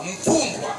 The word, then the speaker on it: Mfumbwa: Non, tu prononces pas bien. C'est pas Fumbwa. Mfumbwa. Fumba.